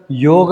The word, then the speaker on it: योग: योग हा बाजूला राहिला मी मुद्दाम त्याचा उच्चार योग असा करतोय योगा असा करत नाहीये आणि तो असा करू नका तर तो चुकीचा उच्चार आहे त्याचा स्पेलिंग वाय ओ जी ए असं केलं जात इंग्लिश मध्ये कारण त्या लोकांना येत नाही म्हणून परंतु आपल्याला तर संस्कृत चांगलं माहिती आहे मराठी तर चांगलं माहिती आहे त्यामध्ये योग अस आपण उच्चार करतो स्पेलिंग जरी योगा केलं तरी त्याचा उच्चार योग असा करायचा तर योग आणि योग